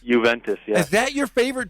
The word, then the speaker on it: Juventus: Because I've read that your favorite team in the world is it, how do you pronounce it? Juventus? Juventus, yeah.